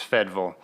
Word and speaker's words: Fayetteville: I grew up in a small town called Fayetteville, Tennessee. That's actually pronounced Fedville by the locals.